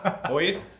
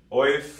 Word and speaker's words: Oiz: Nobody knows how to say it. Oith? Oif. I- I've heard Wheeze. Weath. I've heard it's like the Barcelona Weath.